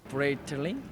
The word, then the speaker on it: Breitling: Breitling.